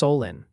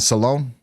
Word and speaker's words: Solon: They're saying Solon is pronounced Solin, and Geauga is Geauga. All right, so Guega and Salone.